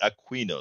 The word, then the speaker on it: Aquino: We say A-Q-U-I is Aquino. You had to teach me that your pronunciation is Aquino, so it's Aquino.